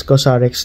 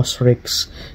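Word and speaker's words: COSRX: ceramide comfort ceramide cream so ang pronunciation pala niya is cosx dati Akala ko krex okay so kx Korean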